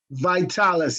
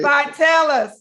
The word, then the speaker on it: Vitalis: Vitalis, you got it. Vitalis.